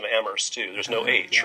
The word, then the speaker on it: Amherst: perhaps amherst is different I've been practicing my pronunciation a murse to there's no age